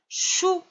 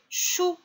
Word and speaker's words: chou: le sang et le chou le show is il y a le c devant le h donc ça fait le son le chou bout des boues des